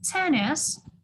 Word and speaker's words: tennis: And tennis or tennis тотазбы? Tennis on the first syllable.